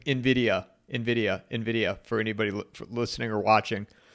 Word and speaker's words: Nvidia: A lot of people say Nvidia. Yeah, yes, it's Nvidia, yeah, Envy.